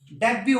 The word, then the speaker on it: debut: Hustle, बसल, डेब्यू, देखो कितना अच्छा वर्ड है, DEBUT, डेब्यू, टैनी, और डिपो, बस डिपो होता है ना, डिपोट नहीं होता वो, डिपो, टी साइलेंट।